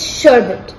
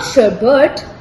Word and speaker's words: sherbet: bit wrong H yes it's sherbet not sherber why does everyone add that extra R maybe because it's sweeter